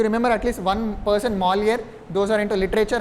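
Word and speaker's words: Molière: to remember at least one person that is Molly. That is how it's pronounced. Molly is the greatest French writer because that is how they claim him to be. If you remember at least one person Malier those who are into literature I'd be happy.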